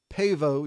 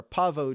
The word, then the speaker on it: Pavo: one going to be in Pavo Georgia or apavo Georgia depending on your pronunciation that is like I